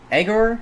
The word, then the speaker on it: Egor: I really didn't like Egor, I think is how you pronounce his first name, Egor Surin, out of Russia.